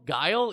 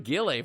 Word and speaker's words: Guile: Uh Ken Gill Gill Gille Guile. Yeah, Colonel Guile. Yeah, I was doing Gilelay for like the longest time.